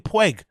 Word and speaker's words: Puig: Pueg. Or is it? Oh, you're saying Pueg. Not Puge. Pueg.